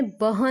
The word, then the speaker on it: बहन: भाई उसका है बहन, लिखते समय बहन लिखना है लेकिन प्रोनाउंसिएशन इज बहन।